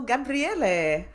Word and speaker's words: Gabriele: And my guest today is a writer and director of Unholy Night, Michael Gabriele.